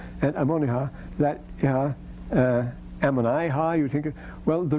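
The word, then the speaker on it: Ammonihah: This would actually be Ammoniha, Ammoniha, if we were talking it in, telling it in English. Ammoniha, it couldn't be Ammoniha in any Semitic language, because the recessive accent doesn't go that far if you have double syllable, double consonant in between. So Ammoniha is good enough.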